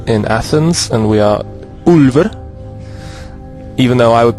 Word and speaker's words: Ulver: you're watching uberalis in athens and we are ulver even though i would pronounce it alva we are the wolves of greece actually there